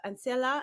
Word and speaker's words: Ancilla: She is the founder of Ancilla. Did I pronounce that correctly? Yes, perfect. Ancilla. I said it perfectly.